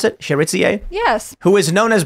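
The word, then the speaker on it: Chérizier: Jimmy Cherizier, is that how you pronounce it? Cherizier?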